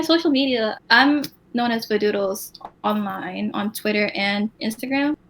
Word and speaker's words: Vadooodles: And so I was like, doodles rhymes with noodles. And then I just put a VA in front of it because. And so I put Vadooodles, and that's what it became.